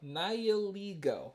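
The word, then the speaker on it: Nihilego: but there you go nio like nihilist but he plays with LEGOs a nihilist who plays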